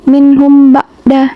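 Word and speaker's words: مِنْهُم بَعْدَ: Nah, ba'da ini tajwidnya ikhfa syafawi. Mim mim sukun bertemu dengan ba. Mim sukun bertemu dengan ba. Bacanya itu ditahan atau dengan didengungkan seperti contohnya seperti ini. Minh ba'da.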